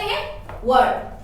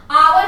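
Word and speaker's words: hour: हो जाएगा है ना आवर हा सॉरी इसका प्रोनंसिएशन आपका हावर नहीं होता है हावर नहीं होगा ठीक है इसको क्या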